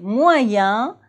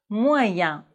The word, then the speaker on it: moyen: Mais dans les mots examen et moyen, E-N se prononce en, examen, moyen.